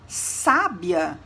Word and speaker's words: sábia: Quando a gente pronuncia sabiá, percebemos o acento agudo na última letra. E quando pronunciamos sábia, percebemos o acento agudo na letra A, que segue o S. Então, a pronúncia de cada uma das palavras se torna diferente.